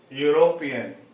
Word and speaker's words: European: Here the first letter is a vowel, and the second this is silent letter, and the second letter is U. This is also a vowel, but it is not producing vowel sound. It is producing consonant sound, that is U.